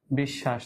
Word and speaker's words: বিশ্বাস: এ চারটা বর্ণ আমরা আগেই বলেছিলাম তালব্য স মর্ধন্য স দন্ত স এই তিনটা স এই তিনটা স এর উচ্চারণ কিন্তু তালব্য স এর মত।